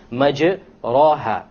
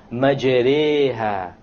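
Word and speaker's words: مجريها: If you were to not know what an imala is, you would say majraha, but that's a mistake. You have to pronounce it with an imala. An imala is pronounced as this, majreha, majreha.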